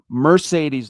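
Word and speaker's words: Marcedes: And, uh, it's kind of interesting that Mercedes Lewis, pardon me, coach, he, you know, Mercedes Lewis, pardon me, even though it's spelled with an M A R.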